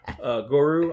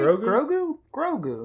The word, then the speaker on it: Grogu: Goru. I don't know how to say it. It's Baby Yoda. Grogu, right? Grogu.